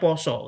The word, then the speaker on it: pasa: mestinya kan pasa ee tulisannya pasa tapi bacanya poso karena bahasa Jawa kan.